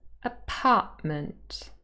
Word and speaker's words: apartment: So apartment could also change to apartment.